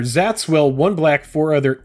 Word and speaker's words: Szat: you pronounce this shoals i've been saying silent s yeah sure zats will one black four